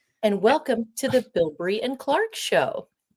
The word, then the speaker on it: Bilbrey: And welcome to the Bilbury and Clark show.